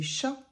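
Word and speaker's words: chat: Bobby and so so how do you say cat in French well actually it's very easy you say sha sh and sha is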